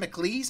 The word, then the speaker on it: McAlees: How do you say your last name? McAlees? I should have got McAlees. that. McAlees. It's kind of like, you know, the McEnroe, the tennis player, kind of has the same kind of vibe.